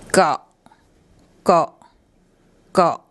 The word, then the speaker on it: เกาะ: And the sound they make is a very short ot sound. So the actual pronunciation is more like got. If you think of the English word got and just remove the T, so you get got, that's a lot closer than coal, which is nothing like the pronunciation.